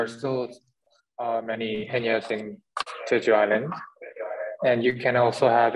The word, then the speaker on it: Jeju Island: For JJ, I mean, I love Juju Island. Am I pronouncing it right? Juju Island? I like your way of saying it, Dina. How do you say that, JJ? It's Jeju Island.